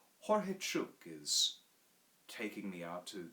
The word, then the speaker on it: Jorge: a guide named george in spanish it's pronounced jorge jorge is taking me out